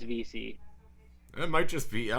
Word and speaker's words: Vesey: he was gonna jimmy vesey was on there but ended up getting picked up or vc sorry forgot he changed his name from college to [